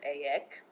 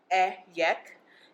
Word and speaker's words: Ayek: My name is Ayek. Ayek. That's literally it, those only 4 letters.